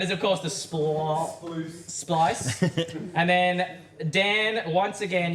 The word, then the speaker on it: Splice: for which disc Mania NS speeed rhymes with the word entice Frosty Frosty that is of course the SP splice and then Dan once